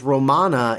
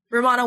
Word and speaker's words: Romana: Romana 1, right? Yeah, Romana 1. Whoa. That rhymes with Moana.